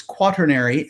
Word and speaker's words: quaternary: they use mathematically is quaternary not like quarter as in r before the t but no r before the t it's quaternary that's how they say it and this is